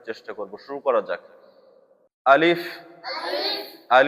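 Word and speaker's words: ألف: আলিফে বাংলা বানানে আসে সরে লয় রশি প। কিন্তু আলিফ সহি উচ্চারণে সরে লয় রশি ফ হবে।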